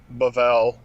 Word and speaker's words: Babel: that's right genesis 11 the tower of babel babel yeah or uh bavel but same thing babel bavell babel babel whatever which is uh which is confusion and uh even the way that we pronounce it is confusion right because it's been anglicized all right shall we